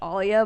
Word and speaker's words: Alia: My birth name is pronounced Alia, but everybody calls me Aaliyah that I just don't even bother correcting them.